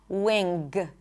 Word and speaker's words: wing: And as you can hear I do not pop the g. Wing. There is no g sound.